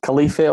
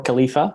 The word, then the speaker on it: Khalifeh: So it's pronounced Khalifeh or Khalifa, so you can pronounce it either way.